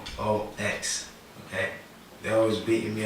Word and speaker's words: Hoox: Hoox, that's Hoox, Hoox, okay? They're always beating me up about pronunciation so people understand.